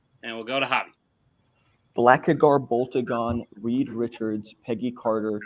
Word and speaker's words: Blackagar: Antonio, you messed up some syllables there. You wrote Blackagon, Boltagar. It's Blackagar, Boltagon.